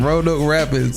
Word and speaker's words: Roanoke Rapids: Roanoke Rapids.